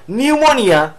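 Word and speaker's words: pneumonia: শব্দ থাকে ঠিক আছে যেমন নিউমোনিয়া বানানটার পি টা অনেক ক্ষেত্রে উচ্চারণ হয় না এই যে উচ্চারণ হয়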